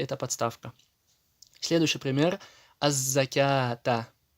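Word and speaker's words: الزكاة: Аз-закята. Не закавата, а закята.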